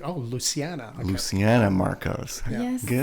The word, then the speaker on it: Luciana: I thought it was Luciana until you said her name. No, until I heard her say her name on a little doc. Yeah. And I was like, oh, Luciana.